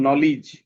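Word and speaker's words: knowledge: থাকে তাহলে খেই এর সাউন্ডটা হয় না যেমন নলেজ এইযে আমরা এখানে পড়ছিলাম নলেজ এইযে দেখছো এইযে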